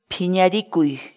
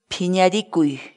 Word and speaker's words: phiñarikuy: série de vídeos onde nós ensinamos você a pronunciar determinadas palavras em Quechua. Portanto, a nossa palavra do dia para hoje é... Pinharicui. Pinharicui. Pinharicui.